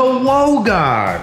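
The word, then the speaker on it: Logan: Say hello to Wogan. For anybody wondering, it's spelled L-O-G-A-N, but pronounced W-O-G-A-N.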